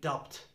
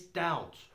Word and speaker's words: doubt: learning the language has the tendency to say dubbed but it's not dubbed it's doubt doubt why are we the